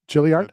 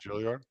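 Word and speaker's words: Juilliard: Gilliard. Jilliard.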